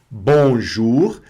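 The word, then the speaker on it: bonjour: Bonjur. Que aqui o O mais u fica U. E nesse caso a gente pronuncia o R, consoante final aqui, que ainda teremos a aula das consoantes, tá certo?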